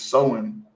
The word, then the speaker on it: Samhain: Halloween origins date back to the ancient Celtic festival of Samhain, pronounced as Samhain.